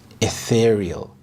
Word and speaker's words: ethereal: Ethereal, ethereal. The stress is on the second syllable, ethereal. This means delicate, light, and almost heavenly.